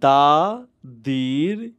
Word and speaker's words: the: Equals V, মানে হচ্ছে দাদির সি ভি। ভি, দা ফর সি, সি for consonant, R ভি for vowel. Yes, that তাহলে? Means কনসোনেন্টের আগে আমরা দা উচ্চারণ করব, হ্যাঁ, এন্ড ভাওয়েলের আগে আমরা দি উচ্চারণ করব।